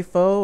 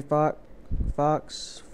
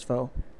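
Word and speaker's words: Faux: So the next one, let's see, Carrie Foe or Carrie Fox. I'm pretty sure it's Foe. Even though it's spelled a certain way, you'd be surprised how many people will pronounce it a different way.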